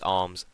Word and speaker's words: Armz: It's Arms, ARMZ. It's spelt with a Z because that's cool, I guess.